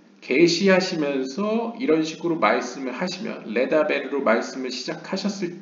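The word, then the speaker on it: לְדַבֵּר: 그러니까 일반적으로 그냥 영어 say에 해당되는 로말 혹은 아말 이거는 이제 그냥 고요하게 이제 평온하게 그냥 발음이 되죠. 근데 레다베르는 아무래도 PL 형태여서 그런지 모르겠는데 여기 다게시도 있죠. 그래서 레다베르가 됩니다.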